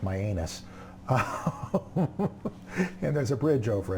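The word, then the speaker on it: Mianus: spell it out, M-I-A-N, I think it's, well, it's pronounced Myanus.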